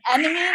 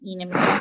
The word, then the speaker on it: enamine: You'll hear some people say this is enamine. It kind of looks like it should be pronounced that way. But as you'll recall, I said previously, I like people to remind people that there's an alkene in here.